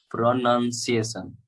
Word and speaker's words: pronunciation: text box yes yes pronunciation there is no noun in the spelling pronunciation the spelling itself does not have the word noun in it so it shouldn't be pronounced however it is spelled pronunciation yes okay um so